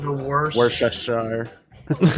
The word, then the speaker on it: Worcestershire: Everybody's Worcestershire got- sauce.